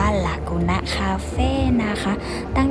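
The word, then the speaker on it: Lagune: ร้าน นี้ เลย จ้ะ อ่าน ว่า ลากูน นะ คาเฟ่ นะ คะ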